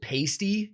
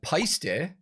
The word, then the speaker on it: Paiste: I learned that like a lot of people pronounce it pasty in the US. You hear that a lot, but I actually found out that Paiste is an Estonian word, I believe, and it means shine or shiny.